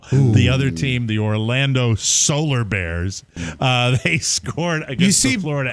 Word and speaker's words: Solar Bears: other team the Orlando Solar Bears uh they scored against Florida osar it rhymes with polar bear but because it's in